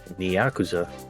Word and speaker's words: Nyakuza: It is Nyakuza.